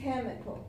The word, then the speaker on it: chemical: But it's not going to be the IC. It's going to be the one before the IC, even if there's an AL.